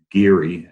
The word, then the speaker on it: Gerry: The term comes from Governor Eldridge Geary, as he pronounced it, of Massachusetts, who